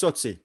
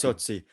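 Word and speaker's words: Tsotsi: Totsi? How do you say Totsi? It's Totsi. It's Totsi.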